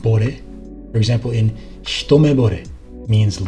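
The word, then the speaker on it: 惚れ: And you may also see this word as a suffix, pronounced bore.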